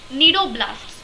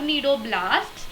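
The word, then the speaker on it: cnidoblasts: the name need area is derived from the needle blasts or needle sides which contain the stinging capsules or pneumatocytes see it is actually pronounced as needle needle sides or needle blasts but the spelling is cni d o b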